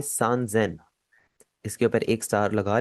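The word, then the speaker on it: 三千: 3000 आपका थोड़ा सा चेंज हो जाएगा, आप इसे सान सेन नहीं बोलेंगे, आप इसे बोलेंगे सान जेन।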